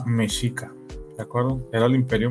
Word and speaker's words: Mexica: eh mexica sí y así se pronuncia mesica de acuerdo era el